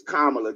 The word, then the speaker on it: Kamala: Her name is Kamala. Just think of think of a comma and then think of a comma and then on the end say the same way.